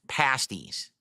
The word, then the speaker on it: pasties: I got to remember it's pronounced pasties.